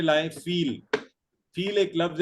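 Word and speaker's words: فیل: सी sound होती है, इसको फील प्रोनाउंस करते हैं, फा या लाम इसकी स्पेलिंग्स हैं।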